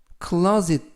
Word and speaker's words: closet: 이번 표현은 closet 이라고 발음하시면 되겠습니다. 이때 유의하실 것은 S 발음이 스가 아니라 closet 이라고 발음하시면 되겠고요.